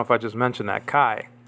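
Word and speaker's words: καί: i just mentioned that kai is pronounced que in uh biblical uh greek then the word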